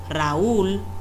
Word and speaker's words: Raúl: Si eh mencionamos el nombre propio Raúl, notamos que en la última sílaba tenemos que hacer una mayor fuerza o intensidad al pronunciarla, porque no llamamos a nadie Raúl, siempre decimos Raúl.